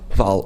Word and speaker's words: Hval: Don't worry about the H. Okay. I've been pronouncing the H out of pure lack of knowledge, I guess. Lack of Norwegian knowledge. So, okay, Jenny Hval. Okay, fantastic. Because easy on the H. Easy on the H, mister.